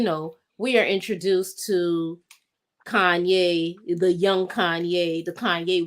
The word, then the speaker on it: Kanye: kanye west they the white people called him canyon canyon canyon west like the porsche canyon west like they couldn't pronounce kanye and they would say oh it it's mispronounced